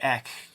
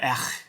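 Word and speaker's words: Echh: Because of the Marvel stuff, like, I did a video with Brian Moss on Not Brand Ek, or Ech, I think is how you pronounce it.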